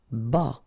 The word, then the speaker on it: bas: Bas. Final S not pronounced.